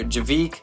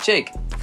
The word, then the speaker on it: JVKE: So it's spelled JVKE, but my actual name is Jacob. But we switched it to Jake, and then I took the A and flipped it upside down. But some people call me JVKE or Javik, but you pronounce it Jake.